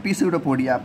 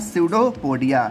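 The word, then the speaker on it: pseudopodia: देखो कुछ लोग इसको क्या बोलते हैं, पी स्यूडोपोडिया, पी यहाँ पर साइलेंट रहता है।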